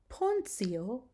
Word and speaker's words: Pontio: Okay, so now when you have a T and it's followed by an I and either an A or an O, then you're going to pronounce it as ts, ts, as in the words gratia or pontio or annunciamus. Do you hear that I'm giving it the ts sound?